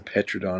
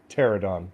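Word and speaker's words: Pteranodon: any money has a petrodon in the logo oh that's kind of has a pterodon a p is silent i knew that thank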